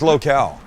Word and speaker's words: locale: a new magazine called locale is that how you say it local local no it's located it's built late it's with the e at the end it's with an ethiopian it's locale wait long lens says locale no yes you know